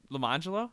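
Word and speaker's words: Lemonjello: It was spelled Lemon Jello, Orange Jello, but they were pronounced Lamangelo and Arangelo.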